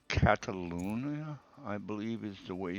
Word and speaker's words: Catalunya: In this particular instance, we're heading over to Spain, to the track that's called Catalunya, I believe is the way you pronounce it.